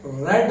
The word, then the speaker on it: read: देखिए, रीड के तीनों फॉर्म रीड, रेड, रेड ऐसे होते हैं, लेकिन स्पेलिंग रीड ही होता है, READ ही होता है स्पेलिंग तीनों फॉर्म में। प्रोनाउंस बस आप अलग करते हैं, रीड का रेड और थर्ड फॉर्म भी रेड।